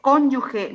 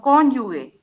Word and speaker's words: cónyuge: es diptongo y no lo correcto es cónyuge no cónyuge y para que sea